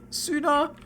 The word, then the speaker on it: Soona: it gives your name soona it sounds like the word sooner uh I I I